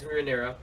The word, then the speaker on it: Rhaenyra: Yeah, and we also get introduced to probably my favorite character as of now besides Rhaenyra. Is that how you pronounce her name? Yeah. Yeah. Besides Rhaenyra is Daemon.